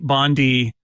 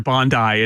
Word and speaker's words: Bondi: uh turn on my Bondi sorry Bondi it is pronounced Bondi not Bondi Bandai iMac G3 today in honor of the 25th anniversary of the iMac which is today August 15 1998.